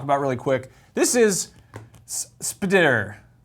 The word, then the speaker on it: SP//DR: This is Spider. It's hard to pronounce because it's Can you spelled spell that?